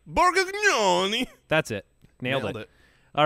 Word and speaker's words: Borgnoni: Borgnoni.